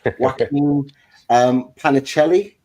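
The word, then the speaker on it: Joaquín Panichelli: Another one from France, this time from Strasbourg, and I need to pronounce this name correctly. Is it Joaquin Panicelli?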